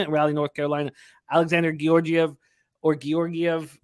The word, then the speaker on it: Georgiev: You hear everybody pronounce it differently. I got Georgiev, whatever, you know. Yeah, Georgiev. That's what I initially started using, and then I heard the soft G, but I'm going back to Georgiev.